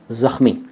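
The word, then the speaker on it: ज़ख़्म: गहरा जख्म हो गया जख्म नहीं होता वो होता है जख्म कई लोग जख्म कहते हैं जख्म जख्म भी सही उच्चारण नहीं है शब्द है जख्म जा के नीचे उगता खा के नीचे उगता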